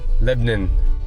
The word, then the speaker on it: Lebanon: En fait, ils prononcent ça ici "Leb'nin". Non... Lebanin.